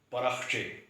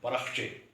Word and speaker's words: پرخچے: میں پہلا لفظ ہے پرخچے۔ پے پر زبر ہے، رے پر زبر ہے، خے پر جزم ہے، تو اس کا درست تلفظ ہے پرخچے، جبکہ عام طور پہ اس کو پرخچے پڑھا جاتا ہے۔ اسی طرح حیرانی